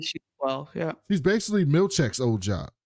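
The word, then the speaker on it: Milchick: He doesn't know how to say his name. He keeps calling him Milkshake. And Mark S is like, it's Milchek.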